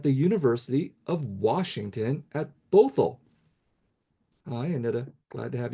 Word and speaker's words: Bothell: And I love that you said that my school's name as Bothell. It sounds very exotic. It's actually Bothell, but I love Bothell.